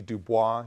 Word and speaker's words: Du Bois: Du Bois, someone who, a lot of you may see Du Bois, you see the name, it's Du Bois, that's the way his family pronounced it.